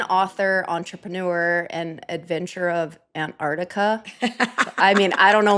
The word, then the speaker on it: Antarctica: By the way, I learned in Antarctica that the correct correct pronunciation is Antarctica. And I'm like, that's too many C's.